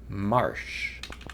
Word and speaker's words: marsh: We've reached the March prize. Marsh prize? March? Marsh. I can pronounce this word. It is not a month of the year. It is a bog.